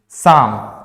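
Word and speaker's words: psalm: देखते हैं काम पाम एक और वर्ड है जिसको हम बोलते हैं साम साम इसमें दो लेटर्स साइलेंट है प भी साइलेंट है और एल भी साइलेंट है इसको हम साम पढ़ते हैं ओके साम एक्चुअली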